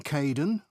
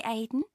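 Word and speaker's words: Kaeden: welcome to the team hi Aiden uh it's Kaden I'm so sorry oh don't worry people often get my name wrong they never know how to spell it it's k a e d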